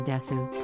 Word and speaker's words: desu: This root part of the expression is actually quite versatile, as you can simply say Otsukare-sama desu, pronounced des, in place of Osaki ni shitsurei shimasu when you leave.